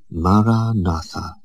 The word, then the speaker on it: Maranatha: And I suggest that you articulate it in your mind, silently, with equal stress on each of the four syllables. Maranatha.